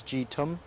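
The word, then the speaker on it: G-TUMB: of my favorites from the Tui Fleet it's jitum that's spelled g hyphen t-u-m-b cutting a beautiful image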